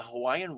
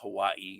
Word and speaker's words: Hawaii: hawaiian words it's not hawaii it's hawaii um that in in certain cases where there's the w a i that is pronounced with the with the v sound for the w so it's hawaii is